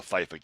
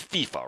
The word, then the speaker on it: FIFA: games here the the FIFA games okay FIFA is it fif it's FIFA right that's because it's a Spanish descendant word so the I is pronounced as an e um so FIFA okay